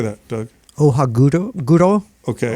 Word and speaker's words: Ohaguro: Ohaguro? Okay, Ohaguro.